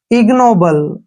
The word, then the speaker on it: ignoble: एन ओ को नो पढ़ेंगे और बी का उच्चारण ब करेंगे, एल ई को ल पढ़ेंगे, इग्नोबल, ठीक है ना।